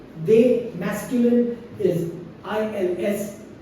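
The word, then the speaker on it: elles: they masculine is I LS pronounced as ill only and and plural of L is e l l e s pronounced as L only for she right and that's it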